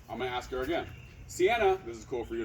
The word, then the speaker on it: Cianna: I knew I was pronouncing it wrong. You're not helping me. Cianna.